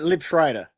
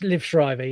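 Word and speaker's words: Liev Schreiber: Uh, Lib Shrider. You're a minus. I don't know if I pronounced that correctly, but you can definitely give me that. It's Liv Shrivever.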